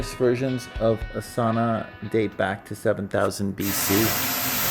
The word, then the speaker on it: sauna: Sauna. Quite hard pronouncing.